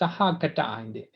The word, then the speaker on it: sahagata: No, actually what you are referring to is Sahagata. Sahagata Kama. G, right? GA, right? GA. Actually, it's in Pali we should pronounce as a Sahagata.